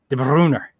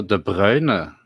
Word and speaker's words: De Bruyne: Or how do you pronounce it? De Bruner.